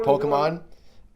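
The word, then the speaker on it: Pokémon: Pokemon.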